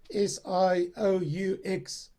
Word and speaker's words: Sioux: And like the Sioux tribe, you know, North American Indian tribe, the Sioux tribe, it's spelled S-I-O-U-X. It's pronounced Sioux.